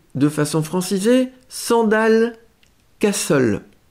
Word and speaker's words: Sandal Castle: prononcer de façon francisée, Sandal Castle. Alors, en anglais, on prononcerait Sandale Castle.